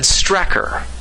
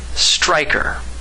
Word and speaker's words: Strecker: And lastly, we arrive at the Strecker synthesis. I've had frequent visits from William Strecker. Strecker. His name is Strecker. His name is Colonel William Strecker. Strecker! Strecker! No, I said Strecker, not Striker.